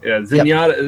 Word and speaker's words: Zenyatta: ] uh I never say his name right Zenyatta is that how you Z SC y yeah Zenyatta Zenyatta is basically a skull